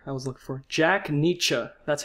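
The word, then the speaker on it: Nitzsche: Jack Nietzsche.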